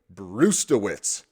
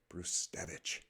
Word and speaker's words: Brzustewicz: been talked about enough is of course Hunter brtz bruevich is actually how it's pronounced the first way I said it is